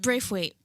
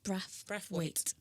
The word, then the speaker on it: Brathwaite: It's not Braithwaite. It's Brathwaite. Brathwaite. Yeah. I've sent off official documents and it's come back with the wrong name. Wait, what they changed it to? White? No, Braith. So my name is spelled Brath and they add in the I.